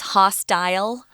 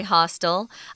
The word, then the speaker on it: hostile: Sometimes people will pronounce this word as hostile. I say hostile. They're both correct.